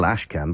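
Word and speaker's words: Ashquan: Ashcan is spelled on this occasion A-S-H-Q-U-A-N, but it's still Ashcan by any standards that I can apply anyway.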